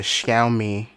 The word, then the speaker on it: Xiaomi: xiaomi i should probably look up how to pronounce that correctly according to marquise brownlee that's the xiaomi me11 i always think of like shout you